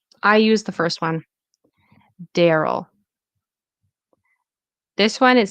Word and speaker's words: Daryl: Personally, I use the first one, Daryl. This one, it says it's like the first vowels like in cat. A daryl. Again, that sounds really weird for me. I say Daryl.